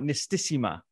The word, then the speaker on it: Nistisima: Am I pronouncing right? Nistisima?